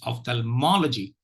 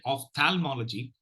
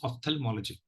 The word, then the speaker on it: ophthalmology: the third syllable and secondary stress on the first syllable so it's Ophthalmology Ophthalmology just one clue